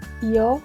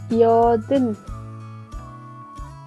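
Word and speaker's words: 여든: Yodin. Igual la U se pronuncia entre dientes, ¿verdad? Entonces, Yodin, que sería nuestro número grande.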